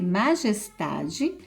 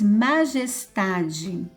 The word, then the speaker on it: majestade: Depois, majestade. Então, nós vamos separar e a sílaba é o tá.